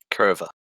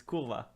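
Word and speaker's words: kurwa: Kurva. That's not even how you pronounce it. It's Kurva. Yeah.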